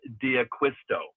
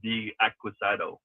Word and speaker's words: Diaquisto: And before I get to our rise, Frank, by the way, it's Juan Eckleberger, not Eckleberg and John Diaquisto, not D Aquisado to give you a question.